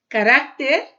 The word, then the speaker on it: carácter: Caráter, caracteres.